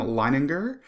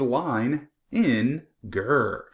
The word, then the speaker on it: Leininger: My name is Leininger. If you look up here in the corner, you can see how to pronounce my name. It is Line in Ger.